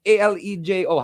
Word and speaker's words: Alejo: It's Alejo.